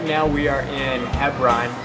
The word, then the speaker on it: Hebron: Lily, right now we are in Hebron. In Hebrew it's pronounced Hebron.